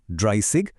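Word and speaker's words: dreißig: 20 হলো সোয়ানসিগ, 30 হলো ড্রাইসিগ, 40 ফিয়াটসিগ, আর এভাবেই একদম 90 বা নয়নসিগ পর্যন্ত গঠিত হয়েছে। এখানকার উচ্চারণগুলো একটু মন দিয়ে খেয়াল করবেন, বিশেষ করে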